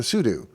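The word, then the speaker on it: sudo: next up is the Pudu command which I've always mispronounced as pseudo but it actually stands for super user do we'll go to a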